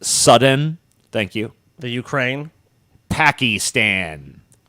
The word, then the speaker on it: Sudan: our enemy Vladimir Putin Sudan is actually pronounced sudden thank you the Ukraine